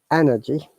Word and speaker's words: energy: If you remember, dear viewers, that in British English we do not pronounce R in energy, so there is no R sound. But in American accent, there is R, so energy, Energy.